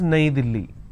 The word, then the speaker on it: Delhi: a capital City in Hindi New Delhi is pronounced as naidili right in English the country Turkey so we